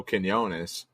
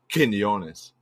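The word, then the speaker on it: Quiñones: pronounce it well uh as an American I'd say Quinones but as a Spanish person I would say Quinones okay there you go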